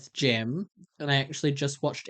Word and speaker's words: Gem: Gem. We're talking about GEM, Gemini Tay, not JEM.